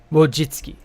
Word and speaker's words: Wojcicki: That's it. Wojcicki. Yeah, that's it. Isn't that a Polish name? God, that's hard to pronounce.